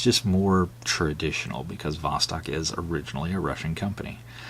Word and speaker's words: Vostok: Russian spelling with a beat but it is pronounced with Vostok and then you can see you know everything's